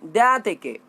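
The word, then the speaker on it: διαθήκη: Testament का Greek भाषा होता है यूनानी भाषा डायथेकी। डियाथेकी प्रोनाउंस कर सकते हैं, DIATHEKE, DIATHEKE।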